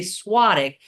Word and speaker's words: Svatek: Um, but your last name is spelled um, s v a t k. So, even though we say swadic, when they're looking for it on Amazon, it is with a v.